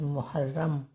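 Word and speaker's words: محرم: ये तो इसके बीच में लगा देंगे जज मुहर्रम माओ मुहर्रम है माऊ र के ऊपर फिर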